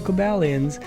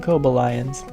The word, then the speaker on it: Cobalions: the Montreal Akobo Lions I was about to say khob aliens and really cool accent but they like to pronounce and kobo lions I always forget about